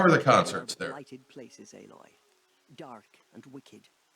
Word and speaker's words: Aloy: She's named Aloy. Yes, but it was why would you pronounce alloy Aloy?